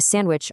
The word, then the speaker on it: sandwich: And for D, you've got amidst, sandwich, Wednesday, handsome, badge. You eat a sandwich on Wednesday, but you never ever pronounce that D.